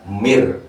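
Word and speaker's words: من: ulaika Al hudam mirbihim tulisannya Min dibacanya Mir karena Idham bilahuna ya ya ya bukan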